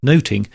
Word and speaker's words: nothing: The title of the play where at the time nothing would have been pronounced noting works on several levels.